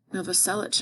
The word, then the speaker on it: Novoselic: Dave Grohl's the drummer, and this is the bassist, Chris, his last name's hard to say, Novoselic, I think is how you say it.